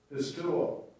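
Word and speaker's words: πιστεύω: Strong's G, 4100, pistuo. Pistuo. All right. So that you make sure you pronounce it right on Sunday morning.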